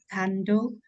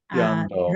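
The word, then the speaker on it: cando: So I translated into Pali like kando akase udati. Is it correct, or Jando, rising? jando, not kando. Jando, all C's in Pali text will be read as cha.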